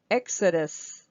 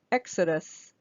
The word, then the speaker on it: Exodus: or a noun okay Exodus Exodus so we have this e is the E is the primary stress and then we have a uh a schwa sound here and a schwa sound here Exodus Exodus Exodus okay let's